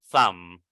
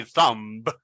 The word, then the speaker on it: thumb: Okay, we don't say thumb. We say thumb only with the M. Thumb, thumb. All right, thumb. When we pronounce that word, we don't say the letter B.